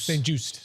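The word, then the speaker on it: St-Juste: And Benjamin, I'm going to say his last name wrong. St. Juste? St. Juice? St. Juiced.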